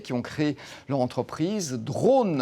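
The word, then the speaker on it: Drawn: ont créé leur entreprise Drone. Alors ça ne s'écrit pas D-R-O-N-E, mais D-R-A-W-N qui signifie dessiner en anglais.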